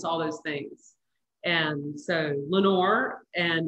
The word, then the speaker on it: Lenoir: this came so easily it's called lenore because i'm from lenoir county and i love the word lenore it looks you know it's spelled l-e-n-o-i-r and so it looks